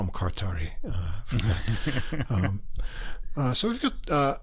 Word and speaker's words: Kartari: that q what's that no k-a-r-t-a-r-i kartari yeah but the first name is e-m-r-e emre emmer emery i don't know anyway we'll just call him kartari uh so we've got